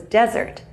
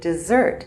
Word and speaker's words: desert: the world water crisis an important word in the speech was desert the area of land without water the only problem was that he pronounced it dessert what we eat after dinner so here are some